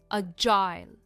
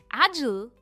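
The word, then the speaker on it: agile: इसे दो तरह से प्रोनाउंस किया जाता है। एजल या फिर अजाइल। एजल यह एक अमेरिकन प्रोनंसिएशन है और अजाइल यह ब्रिटिश प्रोनंसिएशन है और मैं हमेशा अजाइल कहती हूं।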